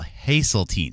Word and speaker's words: Haseltine: It's h a s e l. Hazelene, not Hazelene.